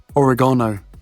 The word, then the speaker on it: oregano: Oregano, or as the Americans say, oregano, oil, and turmeric.